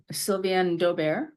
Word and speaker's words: Sylviane d'Aubert: Now, am I pronouncing that one right? So I would say Sylviane d'Aubert. D'Aubert, okay.